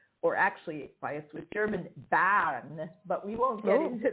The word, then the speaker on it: Bern: i mean if you if you say it in english people say burn and that's perfectly correct but because i live